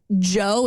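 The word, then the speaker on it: Djo: But Joe Keery also has like an indie rock band called Joe. It's spelled D-J-O.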